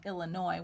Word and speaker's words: Illinois: L lins0 and why there's an S on the end of Illinois when you don't hear it and that's because it's a French word and in French if